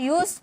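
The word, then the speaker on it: used: यानी कि उसमें हम यूज़ करेंगे यूज्ड to subject यूज्ड to verb की फर्स्ट फॉर्म ऑब्जेक्ट लिखा रहता है यूज्ड लेकिन पढ़ा जाता है यूज़ यूज्ड टू यूज्ड टू नहीं ओके जैसे मैं पढ़ा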